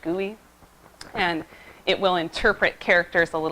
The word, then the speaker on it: GUI: It's a graphical user interface, GUI, that's pronounced GUI.